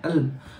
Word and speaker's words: Elm: आज हम बात करने वाले एक और उम्दा बैच फ्लावर मेडिसिन की, जिसका नाम है अल्म, या इसको ELM कहके लिखते हैं, अल्म कहके इसको प्रोनाउंस करते हैं, और बहुत ही उम्दा बैच फ्लावर मेडिसिन है ये।